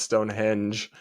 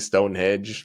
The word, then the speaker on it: Stonehenge: I did mispronounce it. It's Stonehenge. I was saying Stonehenge. Sorry.